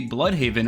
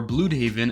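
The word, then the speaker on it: Blüdhaven: Also referenced is Nightwing City, Blood Haven, or Blue Haven as they pronounce it.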